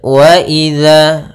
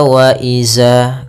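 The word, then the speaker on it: وإذا: Kita ulang faidan nujumu tumisat waidzama furijat pada lafal waidza. Hati-hati dalam melafalkan zalnya jangan dibaca waaiza.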